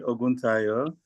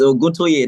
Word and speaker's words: Oguntoye: It's Oguntoye, not Oguntayo.